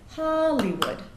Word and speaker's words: Hollywood: probably know Hollywood and there's three syllables there the stress is on the first syllable so we get Hollywood um from there once